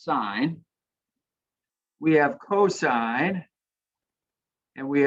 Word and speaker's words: sine: learned about sine but we abbreviate that s-i-n but that's still pronounced sine we have cosine and